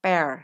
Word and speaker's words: pear: Oh ya, cara baca buah pir dalam bahasa Inggris ini adalah pear ya, bukan pir. Kalau pir itu dalam bahasa Indonesia.